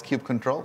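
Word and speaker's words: kubectl: the Family Feud the actual canonical way to pronounce Cube control is Cube control so all everybody else was wrong uh I'm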